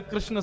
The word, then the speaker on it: कृष्ण: अब जब परिवर्तन में जय श्री कृष्ण मिलता है तो पता चल जाती है कृष्ण शब्द शुद्ध नहीं बोला है।